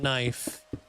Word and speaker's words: knife: What do you mean the K is silent and knife? What are you talking about?